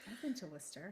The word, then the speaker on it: Worcester: And the people in Worcester right now are very impressed that we pronounced it correctly because we're not from Massachusetts, but I've been to Worcester. I've been to Worcester.